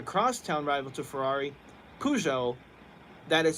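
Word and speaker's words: Peugeot: who is the cross town rival to Ferrari pujo that is spelled PE u g eot t they're a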